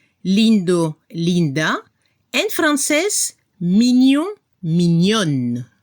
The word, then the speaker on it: mignonne: En francés, mignon, mignonne. Se escucha la N al final y no se pronuncia la E al final.